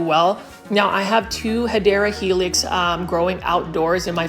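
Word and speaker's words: Hedera helix: video without featuring a HRA helix or the correct way to say it is hadera helix or an English ivy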